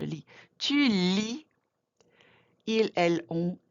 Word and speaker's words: lis: You never pronounce the final consonant, je lis.